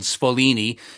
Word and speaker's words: Sfoglini: able to team up with a company called Sfolini in upstate New York. It's spelled Sfoglini, to manufacture it.